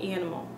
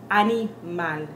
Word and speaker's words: animal: they come out with animal. You have an accent when you say things like that. When you pronounce it in the way we pronounce in English, you come out with an English accent.